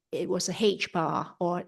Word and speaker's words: h-bar: with H bar is how you say it, but it's actually just one character with a line across the ascender.